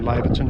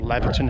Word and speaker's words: Laverton: This summer tour takes in some of the Outback Way, which starts in Winton, Western Queensland, and finishes in Laverton, or Laverton, however you want to pronounce it, in Western Australia.